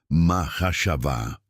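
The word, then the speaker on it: מחשבה: La palabra traducida como pensamientos proviene del hebreo mahashavá, pronunciada mahashavá.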